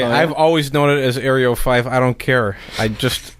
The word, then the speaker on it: eryo5: the recent radio interviews aerio 5 that's what it's called everyone calls it aerial 5 but it's eryo5 i believe it is